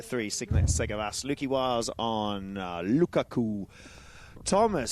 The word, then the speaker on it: Lukaku: As a as a confessed football fan Carl, we're going to have to work on your pronunciation of Lukaku. It's Lukakuaku. Lukaku. Lukaku.